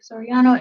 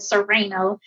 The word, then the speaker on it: Soriano: called me Soriano her most people butchered my last name and she was one of the first ones do that so her nickname for me out of endearment is uh Rhino because she said Sereno instead of Soriano right and